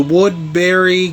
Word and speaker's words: Woodbury: I just say it like Woodbury, so even though it's not spelled Berry, you know, obviously as you guys can see, but I'm not sure how people in England and Britain say Woodbury, but obviously you guys are understanding how I'm saying it, Woodbury, because it does sound like they're saying Woodbury, you know, pretty much, even though it's not spelled like that.